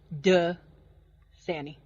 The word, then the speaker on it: Dasani: it Dasani AJC Dasani it's not it's duh Sani yes it is just